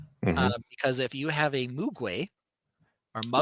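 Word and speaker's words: Mogwai: So, while I'm looking that up, our other tie-in tonight, of course, is Gremlins because if you have a Mugay or Mug Muay Muay got to say it right.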